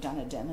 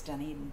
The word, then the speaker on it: Dunedin: We called it Dunedin, as many people did. Dunedin. And we learned quickly that it was Dunedin, but I know that feeling of Yes.